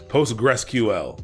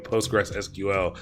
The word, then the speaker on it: Postgres: oh yeah see posts PostgreSQL that's PostgreSQL is what I say Postgres if you write Postgres I'm not pronouncing PostgreSQL like it's just Postgres I just say Postgres when it comes there